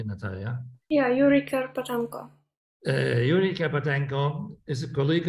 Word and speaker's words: Yuriy Kerpatenko: And I suggested that we dedicate this talk tonight to Yuriy Kerpatenko. Do I pronounce it correctly, Nataliya? Yeah, Yuriy Kerpatenko.